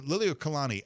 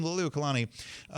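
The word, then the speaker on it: Liliʻuokalani: Kalakaua died in 1891, and his sister, Queen Liliuokalani, I think is how you say that name, Queen Liliuokalani, when she took power, she brought a Hawaii for Hawaiians attitude.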